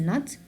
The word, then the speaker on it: know: But do I pronounce the K again? No, I will not pronounce it, so it's gonna be silent. So I will start from the N. So I will say no.